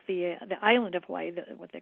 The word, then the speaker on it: Hawaii: it's it's you know we've always said Hawaii but it's Hawaii Hawaii you know um and L